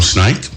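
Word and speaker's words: SNAICC: yeah okay so um but snake is spelled s n a i double c all right so you were not the reptile as as jetty just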